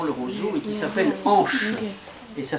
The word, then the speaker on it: anche: C'est un instrument primitif, celui-là, qui possède une petite languette ici qu'on a découpée dans le roseau et qui s'appelle anche. Et ça s'écrit...